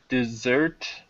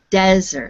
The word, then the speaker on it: desert: The the Sahara is the largest dessert in the world. Okay, that would mean it's a great big something sweet after a meal. Try the other pronunciation. Desert. No, desert.